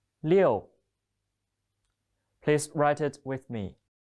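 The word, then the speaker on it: 六: it's a chinese character it means six the pronunciation is leo leo please write it with me let's have a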